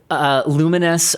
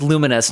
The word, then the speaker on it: Lumines: And also it's, if you've played Tetris Effect, it's the same developers where for Lumines, I'm assuming it's pronounced Lumines, not Lumens, right?